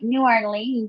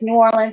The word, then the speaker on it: New Orleans: grew up in negative so it's New Orleans it's not New Orleans you can say Nolan